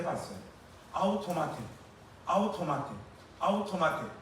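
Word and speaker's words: αὐτομάτη: 여기 지금 스스로에 해당하는 헬라어 단어가 아웃토마테 하는 단어입니다. 우리 권사님 집사님들 아시는 헬라어는 아가페밖에 없잖아요. 스스로에 해당하는 헬라어가 아웃토마. 여러분들 이거는 중요하니까 일단 발음을 한번 해 보겠습니다. 시작. 아웃토마테.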